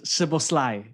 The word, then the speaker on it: Szoboszlai: So the SZ is the S sound. Mm-hmm. Which is why Chesney. I think more accurately is Szoboszlai, the Liverpool player, right?